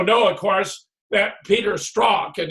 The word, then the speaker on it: Strzok: We also know, of course, that Peter Strzok, and his name is pronounced parallel to Sock, has committed all sorts